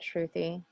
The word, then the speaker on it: Shruthy: probably increase the forward scatter a little bit truthy i should have asked this earlier on am i pronouncing your name correctly yeah actually you are